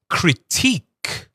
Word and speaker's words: critique: But here, the t is t. So, it's critique.